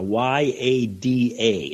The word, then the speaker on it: yada: listening and the uh the Hebrew term for this is yada y-a-d-a and the accent on the second a yada and uh and